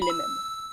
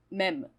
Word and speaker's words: mème: is the memes. It's pronounced "mème," right? So-- like "même." It's not "meme" like in English, right? It's mème... I think it's mème!